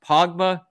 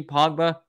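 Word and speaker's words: Kpogba: spell it that's k-p-o-g-b-a i think it's pogba lee pogba the linebacker he's a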